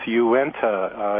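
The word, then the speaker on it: Uinta: is eluding me here it's UI NTA Basin taran's mind so it's probably uh Unita or something uh welcome John you're going to help me with pronunciation here good morning Steve yeah sure uh my name is okay that's and it's enta uh Utah is actually a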